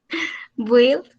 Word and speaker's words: build: The pronunciation is build. Build? Yes. So basically, we omit the U, so the U doesn't sound in there.